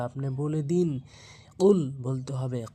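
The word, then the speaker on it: قُلْ: বা আপনি বলে দিন কুল বলতে হবে কফটা হচ্ছে জিহ্বার গোড়া থেকে উচ্চারণ হবে কুল ধাক্কা দিয়ে উচ্চারণ করবেন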